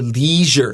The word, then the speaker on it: leisure: your uh at your leisure and you can use a long e here so you can say at your leisure at your leisure sh